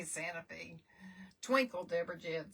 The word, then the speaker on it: Santa Fe: You don't say Santa Fe. You say Santa Fe.